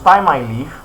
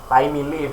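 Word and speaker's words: Thymeleaf: And since we use ty leaf, ty leaf or ti I ty leaf. Yes, let's just say it's ty leaf.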